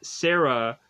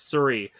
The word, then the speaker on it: Sari: Sorry, I want to say Sarah, but I guess it's Surrey. We have Surrey. I didn't realize that I made that mistake. Because it's spelled Sari. Surrey.